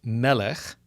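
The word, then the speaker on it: מֶלֶךְ: M, L, and K, can mean king, in which case it would be pronounced melech, and he reigned, a verb, pronounced malach, but it all depends on which vowels are supplied by the reader.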